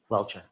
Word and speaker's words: Welcher: eliminate to exclude the testimony of Dr Judson welcher welshire how do you pronounce his name Mr Brenan welcher welcher and the commonweal opposition so who's arguing